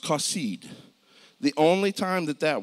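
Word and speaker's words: חָסִיד: It's pronounced kasid.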